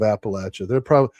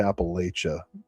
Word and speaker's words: Appalachia: Colton asks, if it's Ohio, does that mean it's yes, it is Vance adjacent in its depiction of Appalachia. Those people probably say Appalachia, which is the worst.